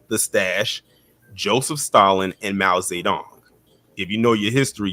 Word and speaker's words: Mao Zedong: Mao Zedong is the correct pronunciation.